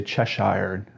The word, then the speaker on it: Cheshire: I'm saying that right I always want to say chesh hired I think that's a bit too UK for how it's actually pronounced over here in the US but let's start with